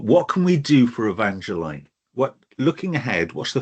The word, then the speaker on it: Evangeline: I mean, Demetra said Evangeline is the right pronunciation for that.